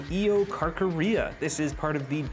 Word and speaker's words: Eocarcharia: This first one, I believe, is pronounced the Eocarcharia.